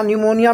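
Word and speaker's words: pneumonia: Diphtheria, P से निमोनिया, निमोनिया में P silent होता है, TY से टाइफाइड, TE से टेटनस, ER छोड़ देना है, CS से कोलरा।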